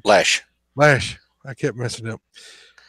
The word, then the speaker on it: Loesch: Dana Loesch, however you pronounce her name, Lash.